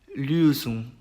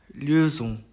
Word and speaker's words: Lösung: 그 다음 이제 오음라우트 발음인데요. 이거는 으 발음을 합니다. 으. 그래서 입 모양은 오를 유지를 한 채 왜 한국어로 왜 발음 있죠? 그렇게 발음을 해주시면은 그나마 비슷한 발음이 나온다고 보시면 되겠습니다. 그래서 제 단어 예시를 보면은 Österreich, Österreich, Lösung, Lösung 이렇게 됩니다.